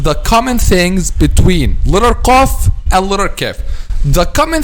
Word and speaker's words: ق: touches what it touches the cough is pronounced by making the back of the tongue touches the soft belly and i'll calf from